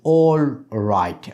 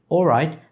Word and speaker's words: all right: we do not say all right okay when you say all right then we do not pronounce the last sound we omit this so all right it